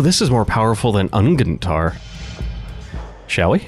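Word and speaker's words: Unguent: Oh, this is more powerful than Ungentar. Shall we? I'm sure it's pronounced Ungent. Ungent, pungent. Yeah, you're right.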